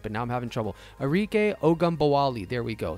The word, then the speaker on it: Ogunbowale: Arike Ogunbowale.